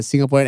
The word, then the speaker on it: Singapore: What is the most neutral Singaporean accent that you can make? Like, the most neutral. Your Honor? No, not Your Honor. Senator, I'm a Singaporean. You know what is the most neutral Singaporean accent?